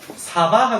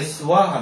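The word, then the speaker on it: स्वाहा: 어 , " 스바하 " 라고 쓰여 있지만 , 이것 은 실제 " 스바하 " 가 아닙니다 . 원래 발음 은 " 수아하 " 맞죠 ? 네 , " 수아하 " 입니다 .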